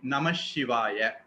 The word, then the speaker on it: நமசிவாய: பஞ்சாக்சர மந்திரம் அப்படிங்கிறது ஓம் நமசிவாய இதுல நா ம ஷி வா ய ரொம்ப சரியா சொன்னா நா மக ஷி வாய இதுல மக அடுத்தது வரக்கூடிய ஷகாரம் வரும்போது அது வந்து நமசிவாய அப்படின்னு மாறிடும்.